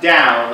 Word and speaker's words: Tao: There's two different transliteration systems, and one of them, the Wade Giles translation system, spells it with a T, T-A-O, but it's pronounced Dow, like the Dow Jones.